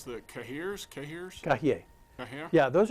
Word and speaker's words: cahier: How do you pronounce the cahiers?